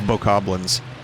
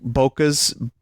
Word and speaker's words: Bokoblin: I love the mispronunciations, even of, like, people in the Nintendo treehouse of bokoblins. Or maybe I'm thinking of something different, but, like, I've heard bokoblins, like, bokas, boblins. Boblins is my favorite.